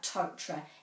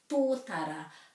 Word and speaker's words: tōtara: Of course, not much point talking about totra and kauri and pūkeko if we're trying to practice that, because that's not the correct pronunciation. Tōtara, kauri, pūkeko.